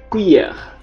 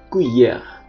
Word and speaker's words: cuillère: Seperti yang saya bilang sebelumnya, C diikuti A, U, O dibaca K. Cuillère.